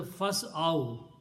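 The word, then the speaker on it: فاسعوا: So, but the full word will be pronounced as a fas'aw.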